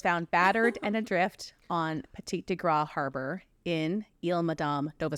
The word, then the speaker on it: Petit de Grat: It's spelled like g r a t. Petit de Grat Grat. Grat. That's what I thought. That was what my gut said.